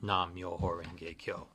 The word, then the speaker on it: nam-myoho-renge-kyo: wonder before I close I would like to teach you the pronunciation of nam nam myoho renge Kyo first there's nam-myoho-renge-kyo nam-myoho-renge-kyo so when you chant the phrase it sounds like this it's very rhythmical nam-myoho-renge-kyo nam-myoho-renge-kyo nam-myoho-renge-kyo and